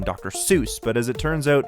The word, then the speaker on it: Seuss: his pen name dr seuss but as it turns out it's apparently pronounced soice like voice it's german i'm still gonna say